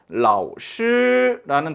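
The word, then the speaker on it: 老师: 자, 그런데 정확하게 발음해 주려면 이렇게 해야 됩니다. 라오슈 이렇게 발음해 줘야 돼요. 그럼 뭔가 어색하잖아요. 그럼 그렇기 때문에 앞에를 삼성을 올라가다 말고 바로 일성을 해 주는 거죠. 반쪽 반만 올라 가지고 바로 일성 발음을 해 준다. 그래서 라오슈라고 발음을 해 줍니다.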